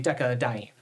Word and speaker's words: decadiene: Normally, we wouldn't include the A here, but without the A, it would be two consonant sounds next to each other, decadiene, so we add the A as a syllable modifier to give us space to say decadiene.